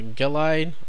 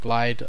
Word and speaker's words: Gelide: interesting to me uh i think it's pronounced uh galide i call it glide um whatever so this